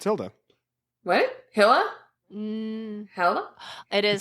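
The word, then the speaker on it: Hylla: differently it's I mean listening to it they said Hilla okay I just went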